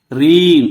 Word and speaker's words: reign: "Reign" లో G అక్షరం ఉచ్ఛరించబడదు.